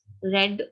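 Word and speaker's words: read: My sister has रेड, हैज के साथ रेड pronunciation होता है, क्योंकि लेकिन स्पेलिंग्स जो है वो सेम ही रहती हैं।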